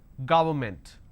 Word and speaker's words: government: I pronounce this gah it's go word government and you pronounce this when you make a mistake as government so don't say it's government it's government environment against extra alright let's